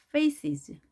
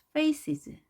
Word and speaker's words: faces: faces, faces. 자, faces. 여기 소리를 강하게 하지 마시고요. 이렇게 약하게 계곡으로 들어가죠.